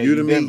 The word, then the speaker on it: Udemy: And definitely he brought up, am I pronouncing this correct? Udemy. Yeah, Udemy, Udemy.